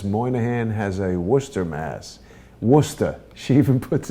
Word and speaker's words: Worcester: How do you pronounce that? Worcester.